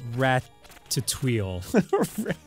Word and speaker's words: Ratatouille: blaming them I've seen Ratatouille I it's pronounced rat to TW I'm just saying man